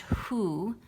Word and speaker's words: who: is spelled w-h-o and this one would be pretty tough to sound out it's pronounced who and when you ask